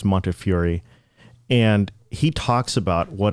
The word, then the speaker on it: Montefiore: His last name is hard to pronounce, but I think it's Montefiore.